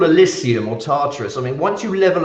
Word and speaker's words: Tartarus: I mean, I think it's Tartarus. I mean, maybe I pronounced it wrong.